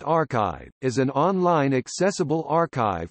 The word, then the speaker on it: arXiv: Archive, pronounced archive, is an online accessible archive for electronic preprints